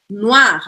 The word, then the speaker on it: noir: é noir no ar a gente tem mais uma matemática das letras aqui ó aí vai sempre tem uma forma de o ar não só tem duas letras wha a guarda lá lá e o r arranhado aqui é o final e